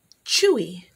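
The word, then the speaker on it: chui: And a leopard is pronounced Chewy.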